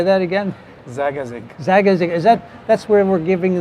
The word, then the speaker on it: Zagazig: Well, in a small city called Zagazig, which is about an hour ride from Cairo, so not too far. How do you say that again? Zagazig.